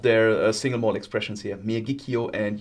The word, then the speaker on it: Miyagikyo: Miyagikyo is yo. And Yoichi is also yo.